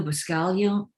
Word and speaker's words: Buscaglia: The common prevailing thing, and this came from Leo Buscaglia, I think is how you pronounce his name, in the 70s.